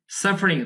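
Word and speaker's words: sufferings: উদ্দেশ্যে, দ্য সাফারিংস, সাফারিংস, বন্ধু এখানে যে ই উচ্চারণটা আ উচ্চারণ হবে, তবে এটা শোয়া সাউন্ড, এটা আপনাদেরকে এত বোঝানো যাবে না, শোয়া সাউন্ড হচ্ছে সংক্ষিপ্ত যে কোনো ভাওয়াল সাউন্ড, যেটাতে স্ট্রেস হয় না, সেই সেটা সাফারিংস, ঠিক আছে, স্ট্রেস করা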